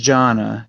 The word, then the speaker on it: Gianna: I just don't know how to fucking pronounce it, so I just wrote it like this, Gianna. All right, and Joe. Jana. It is just Jana.